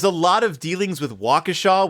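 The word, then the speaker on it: Waukesha: lot of dealings with wakashaw Wisconsin which in the BBC adaptation they keep pronouncing wakisha and I'm like nope nope I don't believe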